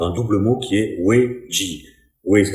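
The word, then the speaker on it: 危机: se traduit par un double mot qui est wei-ji. Wei, ça s'écrit W-E-I, et ji, ça s'écrit J-I.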